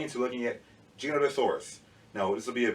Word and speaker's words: Giganotosaurus: So he referred to it as Giganotosaurus.